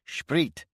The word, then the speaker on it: Sprit: Our company wouldn't often get to see such a concentration of standing and presumably unmanned T34s along with a lot of sprit pronounced sprit and soldier slang for